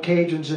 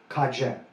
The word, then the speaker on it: Cajun: And so the Spanish couldn't pronounce Acadien, so they tried, and it came out Cadien, and ultimately it became anglicized as a contraction, Cajun, Cajun.